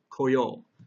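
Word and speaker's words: 来よう: and 来る becomes 来よう. So please notice here that the pronunciation of this character changes from ku to ko. But the way it's written is the exact same, so you'll just have to kind of remember.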